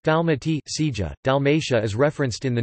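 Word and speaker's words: Dalmacija: The modern Croatian spelling is Dalmatia, pronounced Dalmati, Sija.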